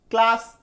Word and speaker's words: class: सी से देखिए क भी हो सकता है, सी से देखिए क भी हो सकता है। कैसे, जैसे कि मान लीजिए CLASS, इसको हम लोग क्या बोलते हैं क्लास, यानी सी का उच्चारण क्या हो जाता है ऐसे क्लास हो गया। क्यों, सी के बाद क्या आ गया एल आ गया, इसलिए सी यहां पे क्या बन गया क बन गया।